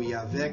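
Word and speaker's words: YHWH: tetragrama Y h w geralmente pronunciado como yavé que significa eu sou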